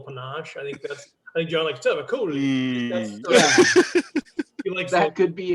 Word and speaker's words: Tavakoli: Yeah, that's because he actually said, you're leaving a syllable or two out of my name when you say it.